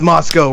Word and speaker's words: Moscow: oh, you're from Moscow, and they're like, it's Moscow, we're not Russian. It's Moscow, eh? It's fucking spelled like Moscow.